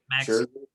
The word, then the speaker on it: Max Scherzer: Max Scherzer.